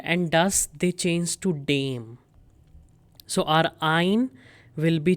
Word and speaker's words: dem: Now in dative case dare and does they both change to dame. Many students pronounce this incorrectly. They say dem. This is not dam. This is dame. Dame.